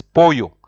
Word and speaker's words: pollo: Chicken in Spanish is pollo. Yeah, remember the two L's. Whenever there are two L's, it's always pronounced like yo. So pollo pollo deshilachado.